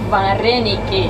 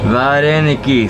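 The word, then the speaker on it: вареники: Vareniki. Vareniki.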